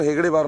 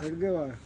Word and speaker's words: हेडगेवार: ये डॉक्टर हेगड़ेवार, आप प्रोनाउंस कैसे करते हैं इनको? डॉक्टर हेगड़ेवार ना? हेडगेवार, हेडगेवार, हेडगेवार।